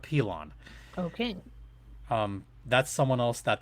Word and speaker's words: Pilon: It's Pilon. Not Pylon, but Pilon.